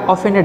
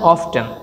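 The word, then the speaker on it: often: Have অফেন তুমি প্রায়, অফেনের দুইটি উচ্চারণ রয়েছে, অফেন অফটেন।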